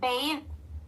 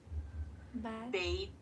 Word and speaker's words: bathe: Bave bait. Bathe bathe. Right. Right. Remember the th it should vibrate.